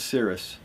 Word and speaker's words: Ceres: for the Roman goddess Ceres. I think that's how you pronounce her name. I think C-E-R-E-S, Ceres.